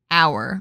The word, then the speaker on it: hour: obviously not right yeah it's an hour right because you're pronouncing our oh you are right yeah yeah yeah the H silent cuz when you're you're